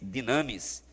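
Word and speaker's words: δύναμις: nesse versículo de romanos em grego é dona pronuncia-se dynamis de onde provém a palavra dinamite referindo se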